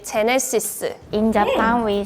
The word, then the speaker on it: Genesis: In Spain, we say Genesis. Like Hennessy, like the alcohol. Hennessy! Like the G and the J is pronounced the same in Spanish.